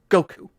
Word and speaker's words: Goku: for quite a while, because Wukong in Japanese is pronounced Goku.